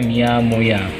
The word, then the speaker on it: Mia Moja: Terus Mia Moja, tulisannya Mia Moja, kalau dibaca ini, kalau dibaca Mia Moya, ini bahasa Swahilinya.